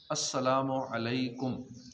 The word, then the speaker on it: السلام علیکم: ہوتی ہے۔ سلام اور جواب سلام کا درست تلفظ بھی یاد ہونا چاہیے. پہلے میں کہتا ہوں پھر آپ سن کر دہرائیے. السلام علیکم.